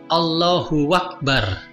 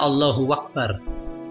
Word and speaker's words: Allahu akbar: tidak boleh menambahkan wawuk Allohuakbar kadang ada orang membacanya allahuakbar itu salah Allohuakbar tidak boleh juga memberi